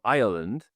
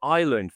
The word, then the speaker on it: Ireland: I keep I kept calling it Ireland for ages and then everyone would say which which island are you going to? I go Ireland. You got to add the extra little syllable in the middle.